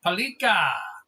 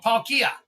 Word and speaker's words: Palkia: I can pronounce that one. Shellos, Slack. Oh, there you go. Slack Off. And Palika. Oh, Palkia.